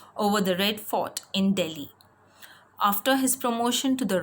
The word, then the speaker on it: Delhi: the Red Fort in Delhi. It is pronounced as Delhi, not Delhi. In English, you pronounce it as Delhi.